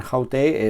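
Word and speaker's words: αὕτη: En ambos casos hay un acento en la segunda vocal del diptongo, que es donde debería estar. El acento aquí en hutos es un circunflejo y aquí en haute es un acento agudo.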